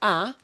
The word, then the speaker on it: ha: Uh that word ah will sound just like the letter A by itself, but it's really spelled with an H, even though we don't pronounce the H.